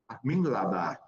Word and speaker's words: Mingalaba: And also we have Songi Minglaba.